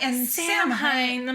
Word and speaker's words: Samhain: She was reading it and she's like, and Samhain. And I'm like, that's no. And Samhain. she's like, even I know that it's Samhain.